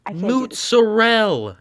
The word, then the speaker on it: mozzarella: it's pronounced I can't do this. mozzarella, not mozzarella.